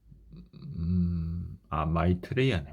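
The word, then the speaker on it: Maitreya: 자, 미에트라인데 마이트라, 하여튼 미에트라라고 읽었는데 아까 한번 봅시다. 예. 마이트레야네. 마이트레야. 제가 잘못 알고 있었네요.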